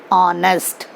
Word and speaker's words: honest: It is written honest, but while pronouncing, we'll say honest.